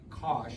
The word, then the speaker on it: cosh: the hyperbolic trig functions it's uh Cosh is how this would be pronounced Posh minus Cosh squared